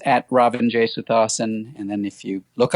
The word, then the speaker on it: Ravin Jesuthasan: How do you pronounce your first name? Oh, it's Ravin Jesuthasan.